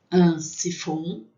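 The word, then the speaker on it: siphon: Sifon, né? Então o PH a gente percebe que tem som de F.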